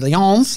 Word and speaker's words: Filions: It's actually the Filions. I will say it properly.